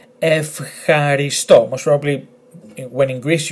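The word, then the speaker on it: ευχαριστώ: Now it's not ev, it's F, because this letter here, letter he, does not belong to the list of letters and combinations that if they follow this combination, it's pronounced ev. So it's F. Then H, A, R, I. F, H, R, I. And then S, T, O. Emphasis on the last letter.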